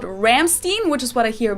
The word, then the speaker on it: Rammstein: called like i'm like it's it's ramstein right like not ramstein ramstein sounds so ah gross